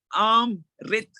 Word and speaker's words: Amrit: You know, if you knew, it's very important to pronounce the word properly. It's Amrit.